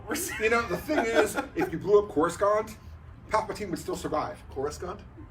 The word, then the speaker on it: Coruscant: up with the name and that's how he pronounced it core is gone yes it is when you say like that